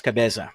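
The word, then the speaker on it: Cabeza: By the way, uh just so you know, the proper term for mayor in this place is Cabza. So, how do you spell that?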